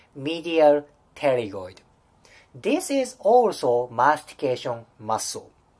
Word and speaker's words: pterygoid: This is medial pterygoid. Medial pterygoid. You don't pronunciate the first P letter. It's really a bit tricky, right? Medial pterygoid.